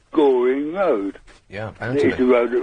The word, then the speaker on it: Goring: to wording there a place called Goring yeah you know at all rhymes with boring yeah it does RH